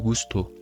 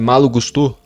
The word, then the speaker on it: Gusto: Cara, uma coisa que eu acho interessante é a pronúncia do nome do Gustô, porque se eu só olho pro nome Gusto, eu acho que estaria errado. Eu acho que é Gustô.